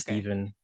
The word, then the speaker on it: Stephen: Well, it's technically not because my name is Steven. It's like a PH.